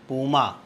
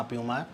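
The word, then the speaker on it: Puma: है, तो ये है पूमा, बी वाला ऑप्शन इसका सही है। प्रोनाउंसिएशन जैसा आपका मन करे, पूमा प्यूमा, वो आप कर लीजिए, सही जवाब बी ही है।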